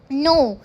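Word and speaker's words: know: बैठा रहता है निठल्ला नेक्स्ट है नो इसमें भी के क्या है साइलेंट है नो मींस कि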